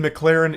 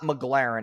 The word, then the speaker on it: McLaren: The McLaren isn't rented.